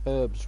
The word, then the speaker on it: herbs: You pronounced herbs right. You know, with a fucking H.